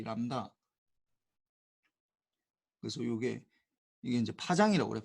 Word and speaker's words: 람다: 그리스 문자인데 우리가 이름을 뭐라고 읽느냐, 람다라고 읽어. 람다 LAMBDA 이렇게 뭐 영어로 적으면 LAMBDA 이렇게 람다 이렇게 적는다고. B는 무기고.